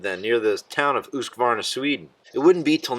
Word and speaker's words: Husqvarna: loved the Husqvarna 400 cross Husqvarna again properly pronounced Husqvarna is probably going to take the cake for